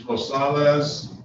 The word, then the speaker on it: Rosales: so let me see what's going on Mrs Rosales is that did I pronounce that right you did your honor I